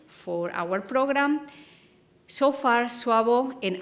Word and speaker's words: SAWBO: our program so far suavo and i will pronounce Wabo but other people say sabah so suavo that's 43